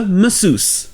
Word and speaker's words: masseuse: A masseuse. Comme vous pouvez l'entendre ici, le A au début se prononce E, et tous les S se prononcent SE.